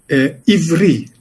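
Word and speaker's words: עברי: Como a gente vai pronunciar isso no original, a gente não sabe, na verdade. O hebraico diz ivri, quer dizer, com duas vogais, com 2 is.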